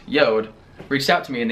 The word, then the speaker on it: JORD: but few weeks ago this company pronounced yodh reached out to me